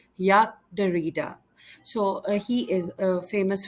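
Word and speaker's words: Jacques Derrida: the next one is you might call him jackass their Rider however in French it is pronounced as Yak darita so he is a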